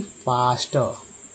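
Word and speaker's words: faster: और FASTR में जो ए का उच्चारण आ के रूप में, यानी कि फास्टर, ठीक है, फास्टर।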